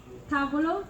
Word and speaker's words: tavolo: So you have the accent on the first one, it's tavolo, and the sounds after that just slips.